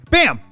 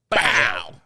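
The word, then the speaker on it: Bawl: Bam. Bam. Bam. No. Wait, wait, wait, wait, wait. It's not bam. It's bow.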